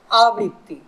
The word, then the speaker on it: আবৃত্তি: আবৃত্তি কি হয়? আবৃত্তি, আ বয়রি ত তয়রুষি, আবৃত্তি।